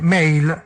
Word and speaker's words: male: Maschio si dice male, mail, male. Male. Si scrive male, si dice mail, perché siccome gli inglesi sono scemi e scrivono in un modo e pronunciano in un altro, no?